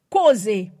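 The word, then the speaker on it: חוזה: Un premier mot là, c'est premier mot, je suis capable de prendre c'est causer. Causer, c'est C-H-O-Z-E-H. C'est C-H-O-Z-E-H. Il prononce causer, ça son mot hébreu.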